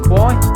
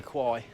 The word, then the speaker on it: Kwai: River Kwai. Or River Kwai, I've been saying it wrong all these years.